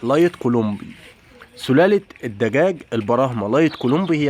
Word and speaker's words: لايت كولومبي: مسميات او كولومبي يعني في ناس تقول عليه دجاج كولومبي مربي تاني يقول عليه لايت النطق الصحيح لايت كولومبي سلاله الدجاج البراهمه لايت